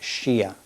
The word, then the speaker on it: Shia: His Hebrew name must have been Yehoshua, but in the family he was known as Shia, which is sort of like, you know, the last syllable of the word Yehoshua.